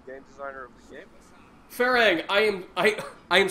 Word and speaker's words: Farhang: I'm the lead game designer of the game farang I am I I am so glad am